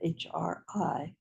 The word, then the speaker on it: HRI: seed syllable of Chenrezig, spelled H-R-I, pronounced, I believe, Hri.